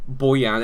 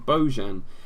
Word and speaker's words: Bojan: unspanished football calling boyan they've always called him bojan and now that he's come to England and all of us and he's an exotic foreign player they've gone oh you mustn't just pronounce the J as a j it must be some sort of hybrid eye so we'll have to